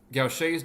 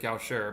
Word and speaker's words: Gaucher: Gaucher's disease, looks like Gaucher, but Gaucher. Glucocerebrosidase deficiency leads to a buildup of what you can imagine would be a glucocerebroside.